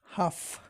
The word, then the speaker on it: half: the door ja o silent l half h a l f